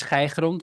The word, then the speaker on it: Schergrund: The right pronunciation is Schergrund, but nobody around the table can do that.